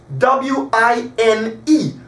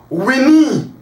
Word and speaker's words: wine: right wine w-i-n-e wine now if you were to pronounce it regularly w-i-n-e it's gonna be pronounced we knee but because we have the soft e there and it's silent it gives clarity so that i is long so we said wine